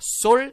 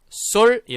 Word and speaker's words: sol: 경우는 어떻게 발음 이랄까요 sol 그러면 어떻게 발음 날까요 그렇죠 쏠 이라고 발음이 납니다 제가 좀 적어 드릴께요 칠판을 따로 준비를 안해서 만약에 제가 이렇게 sol 요런 녀석이 있다면 썰이 라고 발음이나 겠네요 그저 쏠 이라고 발음을 해 주셔야 됩니다 자